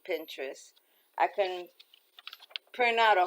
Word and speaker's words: Pinterest: decorative paper from Pinterest I say pin interest but it's actually Pinterest I can print out